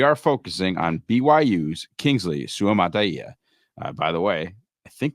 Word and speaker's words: Suamataia: and specifically, we are focusing on BYU's Kingsley Suamataia. By the way, I think that's the correct pronunciation. I actually went and did a little research there to try and nail that. So Kingsley Suamataia, if you guys get a chance.